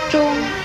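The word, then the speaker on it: 螽: 钟字的国语注音是钟，一声钟，知翁钟，一声钟。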